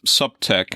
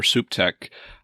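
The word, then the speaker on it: SupTech: concept of regtech so i also use the terms or pronounce it subtech i have been i've been chastised by some who prefer the term to be pronounced soup tech so i say pick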